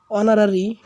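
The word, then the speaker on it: honorary: অনারারি এইচ উচ্চারিত হয় নাই।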